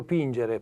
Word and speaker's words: pingere: in which the 'g' was a hard sound "pingere" perfect.